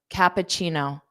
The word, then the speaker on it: cappuccino: So the ending sound has that chino, chino, chino, chino, pacino, pacino, kappa, kappa, Cappuccino.